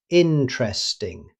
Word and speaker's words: interesting: Rather than saying every syllable, native speakers usually pronounce it interesting. The first E after the T simply disappears.